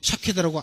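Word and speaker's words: שָׁקֵד: 근데 히브리어는 여기에 자음만 있어요. 모음이 없어요. 그래서 근데 유대인들은 이걸 보고 그냥 읽어요. 문장 가운데 다 읽는데 이 단어만 딱 보여줬을 때 예레미야는요 샤케드라고 안 읽고 뭐라고 읽었냐면 쇼케드라고 읽었어요.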